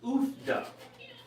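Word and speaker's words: Uff da: Okay, it's pronounced oofda.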